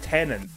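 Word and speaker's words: Tenet: It's Tenant. Maybe it sounds like I'm saying another N next to the T towards the end, but I'm really not.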